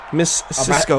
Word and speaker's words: Mazisco: Yeah, it's like Brazil with the S. I don't pronounce the Z's. I pronounce them as S. Miss Cisco.